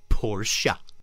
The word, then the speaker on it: Porsche: It's pronounced Porsche.